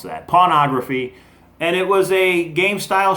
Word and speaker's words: Pawnography: You got to watch how you pronounce that. Pawnography.